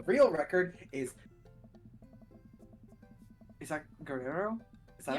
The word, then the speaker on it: Guerrero: Is that Guerrero? Is that how you pronounce that? Guerrero.